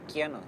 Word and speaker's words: Kiano: Que mi apodo es Cano, pero en lengua cahuéscar al menos Cano está mal pronunciado, en realidad se dice Quiano, que significa él aquí, o esta persona acá.